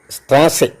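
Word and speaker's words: Straße: ആർ എസ് സെറ്റ് ഇ സ്ട്രാസെ that S സെറ്റ് is pronounced as double S സ്ട്രാസൈ means സ്ട്രീറ്റ് വി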